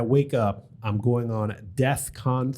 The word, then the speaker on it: DEFCON: By the way, he's people were making fun of him because he said it wrong. He said death, like Diacon, instead of DEFCON.